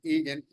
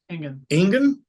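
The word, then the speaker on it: Engin: some faulty calls there, and I heard that Egan, how do you say his name again? Ingen.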